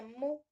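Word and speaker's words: μ: Para empezar, la media, como habíamos dicho al principio, se caracteriza con este signo, que es como una U y se pronuncia como mu.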